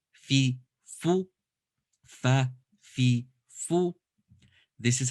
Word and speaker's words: ف: of your bottom teeth okay then we have fa fi fu fa fi fu this is how it looks in